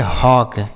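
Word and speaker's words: hawk: एच ए डब्ल्यू के इसे पढ़ेंगे हॉक। क्या पढ़ेंगे? हॉक तो यहां पर भी ए यू का ए डब्ल्यू का उच्चारण अ हो रहा है।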